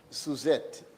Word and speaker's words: Suzette: of Social Security, Miss Suzette, and you have to say it with the accent on the Z.